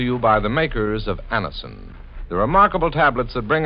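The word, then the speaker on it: Anacin: Just ask for Anison at any drug counter. It's spelled A-N-A-C-I-N. Anison.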